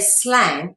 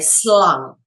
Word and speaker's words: slang: And you don't say slang in Dutch, you say slung with a U sound, not an ah, but an ah sound. So you go slung.